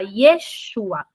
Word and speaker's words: Yeshua: falam eles falam Jerusalém Jesus não se fala Jesus porque eles não pronunci o J se fala Yeshua Jacó não se fala